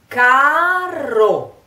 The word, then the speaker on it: caro: Caro, o, o, caro. Let's divide the two syllables. Ka ro, you. Ka ro.